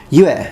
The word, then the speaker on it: 月: So it's pronounced yue in Chinese, it's pronounced tsuki in Japanese.